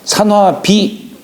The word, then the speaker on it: 산화비: 그런 뜻이 담겨 있어요 산화비 본래 옥편에 이게 분이라고 나오는데 여기다 흙도 찾으면 무덤 분자 있잖아요에 무덤을 꾸미는 뜻이 여기 비라고 하는 꾸민다는 뜻이에요 꾸민다 그러나 음은 비라고 읽어요 산화비음 그다음에 산지박음 까끌 박자네